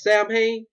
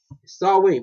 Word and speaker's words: Samhain: Listen to me. Samhain. Pronounce Samhain. Might spell like Samhain.